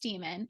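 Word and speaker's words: daemon: Damon it's spelled d-a-e-m-o-n in the closing demon pronounced demon and basically it's like an animal companion that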